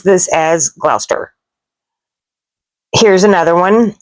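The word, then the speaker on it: Gloucester: Words with long spellings are pronounced short. vowels and sounds are just not drawn out. Uh like this one right here. I look at this and I say glaus.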